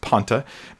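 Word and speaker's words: πάντα: that's that word Ponte and that's how it's pronounced Ponte in the Greek the P alpha a new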